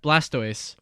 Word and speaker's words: Blastoise: How do you pronounce that? Blastoise.